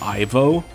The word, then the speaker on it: Ivo: supposed to be pronounced Evo some people have pointed out that Evo sounds very similar to evil um which I think